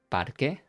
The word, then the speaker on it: parque: It's going to be parque, but it's masculine. En el parque. Same rule here. Remember, we don't pronounce the U.